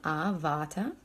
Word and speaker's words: Vata: Veda ah your Veda and then Vata so it's a long Vata Pitta and technically it's